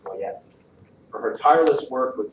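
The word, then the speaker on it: Goyette: This year, the board has selected Sandra Coyette, Go O Yo T, pronounced Coyette, for her tireless work with Golden Harvesters, a nonprofit providing meals and serving low-income families in our community.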